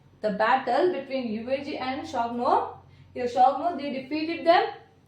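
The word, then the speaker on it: Xiongnu: The correct pronunciation of this word is a Shogno. Repeat after me. Shogno.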